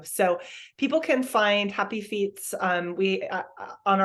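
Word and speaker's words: fiets: anybody who's listening um it is called happy Feats so that's a little pun the word feats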